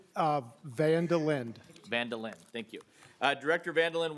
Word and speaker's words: Van der Linde: How would you like, I keep thinking of Seinfeld and Vandalay Industries, so you got to give me the right pronunciation. It's Vandelin.